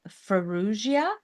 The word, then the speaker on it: Farrugia: and lifestyle Queen today my guest is fuia did I pronounce that right you did you did I